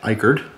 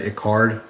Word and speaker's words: Eichard: This came from Eichard, and I was pronouncing that wrong in the past. I always said Icard, and it was just